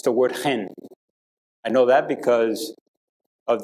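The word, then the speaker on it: חֵן: in the Hebrew is hand it's the word hen I know that because of the young man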